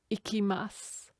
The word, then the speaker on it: いきます: place for going and we don't pronounce the u on the end of that word have a listen again ikimasu and then we need